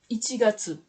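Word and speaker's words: 一月: Les deux ensemble, ça se prononce ichigatsu.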